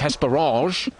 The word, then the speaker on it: Hesperange: for us as well it does sound more impressive to go with the French pronunciation of hesperage but we'll just sit with hesper thank you very much that's